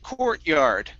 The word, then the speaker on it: courtyard: word here is pronounced courtyard court courtyard courtyard okay instead of coot court it's core okay use an o sound o core courtyard corrugal